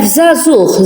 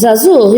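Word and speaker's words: żagħżugħ: When it's at the end of the word, we pronounce it as Ch.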